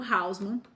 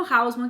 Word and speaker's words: Haussmann: que é o plano, eu aprendi pronunciando assim, plano houseman, mas eh em francês não é essa pronúncia, mas eu vou falar plano housemman, que é o jeito que